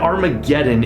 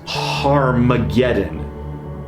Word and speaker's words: Armageddon: magenta that is Armageddon there's no H in the Greek alphabet so John is spelling this word in Greek in a way that would cause them to insert an H sound at the beginning of this word now in Hebrew har